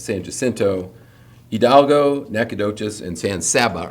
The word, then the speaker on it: San Jacinto: It's not San Jacinto, it's San Jacinto.